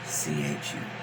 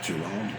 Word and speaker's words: Chulahoma: Can you spell it? CHULAHOMA. That do it right. Chulahoma.